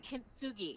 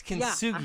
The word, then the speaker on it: kintsugi: called kintsugi. It's kintsugi.